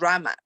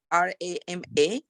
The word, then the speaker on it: Rama: becomes Rama okay but Ram is how the Sanskrit pronounce it is so when I'm saying Rama Rama right so it